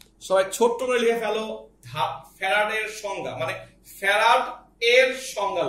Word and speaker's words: ফ্যারাড: এইটাকে আমরা আজকে থেকে বলবো ফ্যারাড। জিনিস বলি, ইন্টারমিডিয়েট লাইফ শেষ করে ফেলে পোলাপার, কিন্তু এটা এটা নাম উচ্চারণ করে ফ্যারাডে, এটা ফ্যারাড, ফ্যারাডে হচ্ছে কেমিস্ট্রির কথা, ওটা অন্য জিনিস, এটা ফ্যারাড।